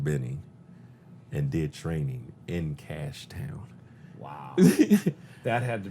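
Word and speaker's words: Cashe: pretty heroic stuff uh cash c-a-s-h-e you know when he was in korea all the koreans they actually pronounce everything they do so they said when they uh cashie he was like no my name is cash you know you have an e at the end they just saw the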